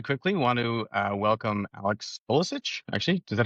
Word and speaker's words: Kolicich: I just very quickly want to welcome Alex Kolicich. Actually, is that how I pronounce it correctly? Yeah, definitely. I'm just gonna. Well, is there a better way? How would you pronounce it? Kolicich, that's fine.